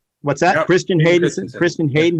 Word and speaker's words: Hayden Christensen: Christian Hayden Hayden. Christensen.